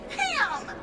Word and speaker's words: Ham: The name is Ham! It rhymes with scram.